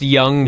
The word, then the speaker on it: Jung: It's pronounced Young, Yeah. but it was spelled J-U-N-G.